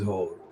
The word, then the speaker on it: Hoare: The pronunciation is Hoare, but the spelling is very different indeed.